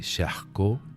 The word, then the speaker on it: Charcot: muy poquitas líneas Quién es ese chasco se escribe charcot tienes ese chasco que